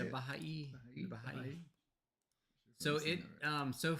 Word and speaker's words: Baha'i: Baha'i.